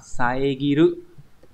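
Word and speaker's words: 遮る: Đọc là saegiru.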